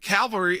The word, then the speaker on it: cavalry: I'll go right to Harry on this, with cavalry, which is, again, bringing in like troops, with Calvary, the religious sense, which is spelled differently. One has an L before the V, one doesn't. Absolutely, and the words are pronounced differently if we're going to be precise.